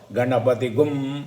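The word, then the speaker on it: गणपतिं: இந்த 4 லெட்டரும் அந்த டாட்டுக்கு அப்புறம் அதை கும் அப்படின்னு ப்ரொனவுன்ஸ் பண்ணணும். இங்கே பாருங்கோ, இங்கே கணபதிம் இருக்கு இல்லையா, அதுக்கப்புறம் இம் இருக்குங்க, அதுக்கப்புறம் என்ன வருது? ஹா வருது. ஹவாமகே. அப்போது கணபதி கும் அவாமகே.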